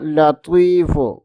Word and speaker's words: لطیف: کا نام ہے یا لطیف، یا لطیف، یا لطیف۔ کوشش کریں کہ تلفظ کی ادائیگی درست ہو۔ یہاں تا نہیں بلکہ